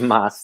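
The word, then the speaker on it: más: spell that for folks m-a-s that's it like in spanish like uh like taco bell's old slogan live live moss that's right which is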